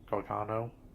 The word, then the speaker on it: Gargano: I believe I was mispronouncing it in the other review. Gargano.